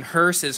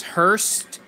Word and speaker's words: hearse: figures are super cool why do people keep pronouncing hearses Hurst oh yeah you're right I've been wrong the whole time yeah I always say Hurst it--it's hearse I don't know I